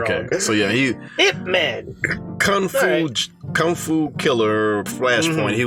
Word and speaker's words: Ip Man: Donnie Yen was Ip Man in previous Ip Man movies. I don't know if you saw Ip Man. Yeah, he was IP Man? Well, they say his name is Ip Man.